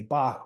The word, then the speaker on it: BLKBOK: and like you said your name is pronounced Bach even though you spell it B okay right but tell